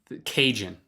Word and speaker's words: Cajun: Or Cajun, which I'm pretty sure it at least rhymes with Asian.